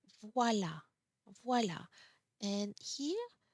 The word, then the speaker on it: voilà: When the accent grave is on the A, it's the pronunciation doesn't change. You still pronounce A. A. Voilà.